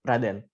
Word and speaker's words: Raden: How about Radin? Is that the right way to pronounce it? Yeah, it's Raden.